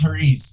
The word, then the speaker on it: Hariz: Did I pronounce that correctly? I did. Hariz. Yeah. It's Hariz.